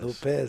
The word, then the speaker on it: Lopes: to remember that because he he does spell it like lopes but he does but he says lopez and he likes you to pronounce it that way yeah exactly he uh